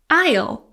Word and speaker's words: aisle: Isle. Silent S.